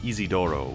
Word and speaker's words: Isidro: For example, I call this kid Isidro, but the official dub they call him Isidoro, which is oddly literal.